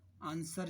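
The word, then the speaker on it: answer: यह आरएसपी W silent आंसर जब लिखते हो है आंसर आंसर टेस्ट में भी डब्लू साइलेंट ओं रॉन्ग के रोम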